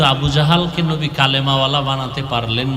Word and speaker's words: জাহল: এইমাত্র তো বললাম আবু জাহল, জেহেল না জাহাল, নাম হলো ইমাম গজালি।